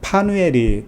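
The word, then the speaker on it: Φανουήλ: 속해 있는 안나가 누구냐면 바누엘이 딸이다 라고 되어 있습니다. 바누엘. 그럼 바누엘은 뭐냐? 바누엘은 파누엘이라고 읽을 수가 있는데, 히브리어로 가면은요, 이게 브니엘이 돼요. 브니엘. 브니엘을 헬라어로 읽으면 파누엘이 되는 거죠.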